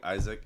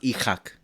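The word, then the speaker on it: Isak: One, I think Isaac, if these next 3 weeks he decides to say, which I think he really should. He's gonna have It's a really pronounced. good It's season. pronounced Ichak.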